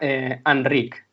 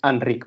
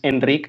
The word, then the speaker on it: Enric: Entonces, en catalán no tenemos solo 5 vocales, sino que tenemos más, y hay una que es la vocal neutra, que son las as o es átonas, entonces se pronuncia como a. Entonces, mi nombre tiene esa vocal que es Enric, pero bueno, si me